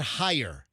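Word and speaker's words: Haier: I pronounce it higher.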